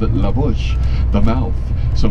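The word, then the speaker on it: La Push: laush the mouth so maybe it was supposed to be laush baby but English speakers heard it oh hear what they call they call it laush let's call it laush too well they were saying it wrong but it's stuck this is called cake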